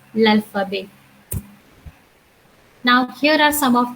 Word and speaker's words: l'alphabet: Last T, which is the I would say that is the last consonant. Most of the time, we do not pronounce in French language. So the pronunciation becomes l'alphabet.